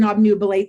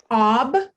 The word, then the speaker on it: obnubilate: And that B syllable, it's actually one that we say really, really fast because it's what my friend Antonio Fierro would call a schwa. It is a schwa syllable.